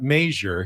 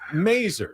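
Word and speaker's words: Masur: There was Andy Mazer, who was the Padres broadcaster, but he didn't pronounce it Major. He pronounced it Mazer.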